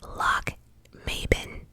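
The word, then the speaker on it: Lochmaben: He fell ill and remained at, I had to Google this, at pronounced Loch Maben Castle.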